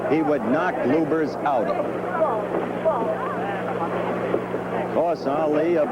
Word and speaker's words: Lubbers: indonesia muhammad ali against rudy lovers or lubers it's pronounced both ways bloopers is probably more technically correct anyway it's the way rooney